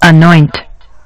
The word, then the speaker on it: anoint: it's like this and the emphasis is going to be placed on the second syllable uh anoint anoint anoint all right